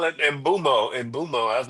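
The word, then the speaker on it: Mbeumo: Mark Gutierrez call it Mbumo. I was like, you better not let Mikey hear you say that shit. I heard Brian Mbumo say his name is Brian Mbumo, so his name Mbumo?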